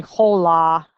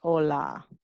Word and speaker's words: hola: And you all should know by now that H is silent. We don't say hola, we say hola.